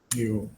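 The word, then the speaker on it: 여: Bukan yeo, tapi yo. Memang Latinnya yeo ya, tapi kita membacanya adalah yo.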